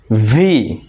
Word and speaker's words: V: ভি, ভি। ভি উচ্চারণের সময় নিচের ঠোঁটটা উপরের দাঁতের সাথে লাগাবো, বাতাস বের হয়ে যাবে।